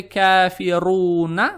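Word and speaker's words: كافرون: Произносите букву Ра с сильным нажимом, поскольку здесь стоит дамма. На самом деле это "кафируна", но при остановке монахиня исчезнет.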